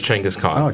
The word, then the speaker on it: Chinggis Khaan: really yeah but that's how you say yes Chinggis Khaan changose yep the Mongol the man who united